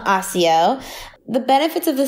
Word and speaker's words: Accio: need your help because I read the books a CEO or a CEO a CEO a CEO I think yeah they pronounce it Accio in the mood we said Akio heart Z